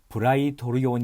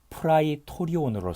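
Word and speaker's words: πραιτώριον: 마가복음 15장 16절 2 브라이 도르 요원 이라고 표기한 곳입니다 원래 발음대로 하자면 프라이 토리 온으로 서 군 사령관의 천막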